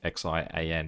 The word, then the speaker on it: Xi'an: The one that I have learnt is that XI in Chinese is a sh sound, so somewhere like XIAN is actually Xi'an.